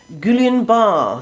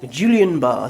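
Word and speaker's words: Guillain-Barré: sclerosis type 1 diabetes gulen bar syndrome or julian barr syndrome depending how you might pronounce it chronic inflammatory d my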